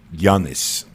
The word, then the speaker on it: Giannis: I was mispronouncing his name. Mm-hmm. And it is Giannis. Giannis Antetokounmpo. Yes.